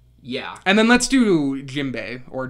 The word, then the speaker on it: Jinbe: And then let's do Jinbei or Jimbel or however you pronounce it. Jinbei, yeah.